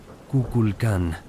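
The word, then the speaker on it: Kukulcán: Déjame llevarte a Chichen Itsá, uno de los sitios mayas más famosos, conocido especialmente por la pirámide de Cuculcan, pronunciado Kuculkan.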